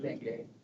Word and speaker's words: dengue: dengue.